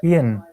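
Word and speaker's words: Eoin: Owen Morgan. Ian. Owen. He's Irish. It's Ian. That's how you say it.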